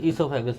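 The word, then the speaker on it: oesophagus: यहाँ से आपने अंदर कर लिया तो खाना फूड पाइप में चला जाएगा, ईसोफेगस में चला जाएगा। इसी को ईसोफेगस कहते हैं। ठीक है। ओ साइलेंट होता है।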